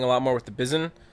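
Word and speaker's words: Bizon: lot more with the Bizen. It's B I Z O N. I think that's how you pronounce it as Bizen. That's how I would pronounce it.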